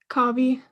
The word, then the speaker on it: Kavi: honor hi is it cabbie it's okay how do you say your last name kavi kavi um so i think